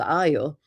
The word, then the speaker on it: Io: Uh, it's called IO. A lot of people get the name wrong uh because they think the I is an L or sometimes they even call it tan. Uh, but it's called Io.